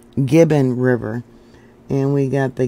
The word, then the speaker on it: Gibbon: the Bison carcass on both sides of the Gibson River or I'm pronouncing it wrong it's Gibbon River and we got the Gibbon geyser Basin